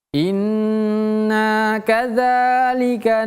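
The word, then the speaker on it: إِنَّا كَذَٰلِكَ: agak lebih lama inna inna kadzalika ini juga ingat Hurufal bukan huruf zai.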